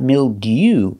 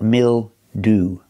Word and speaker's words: mildew: example Milo that's right not milde but mil do o we're using the most common pronunciation of ew at the end ooh Milo mildew is